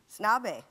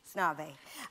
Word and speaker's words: Snabe: Snabe. Snabe.